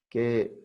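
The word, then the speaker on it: καί: Kai, que se escribe así, pero se pronuncia como que. Se debe pronunciar como que. Por el diptongo. La AI es un diptongo y viene como una que.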